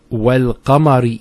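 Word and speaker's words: والقمر: Then we have wal-qamari idha talaha. Wal-qamar. See, notice the lam here has a sukoon on it.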